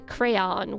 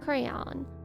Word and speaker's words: crayon: I've only heard the crayon one, I think. Cray crayon one syllable versus two.